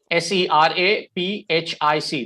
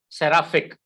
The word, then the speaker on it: seraphic: word is s-e-r-a s-e-r-a p for peter h-i-c s-e-r-a-p-h-i-c the word is pronounced as seraphic seraphic is how you pronounce it okay and one